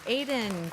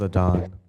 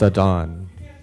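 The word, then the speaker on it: Adan: genocide Ed thank you Aiden followed by Bryan followed by Lauren Aiden welcome Aiden my name is Adon I told you that time my apologies it says a d an it's pronounced a dawn okay thank you I'm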